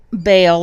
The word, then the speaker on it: Baal: if you know anything about bail or ball however you want to pronounce it I really don't